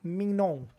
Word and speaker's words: Mignon: But our cinematographer was Joe Louis Mignon. Or, Like Yo. filet mignon? yeah, sort of. Like the Louis same Mignon.